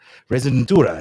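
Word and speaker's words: rezidentura: Residentura is how you say it, which basically means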